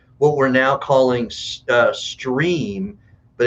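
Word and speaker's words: Strimm: our tv channel and it's uh s-t-r-i-m-m it's pronounced stream but it's it looks like strip and it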